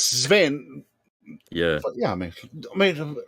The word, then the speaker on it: Sven: Yeah, it's Sven.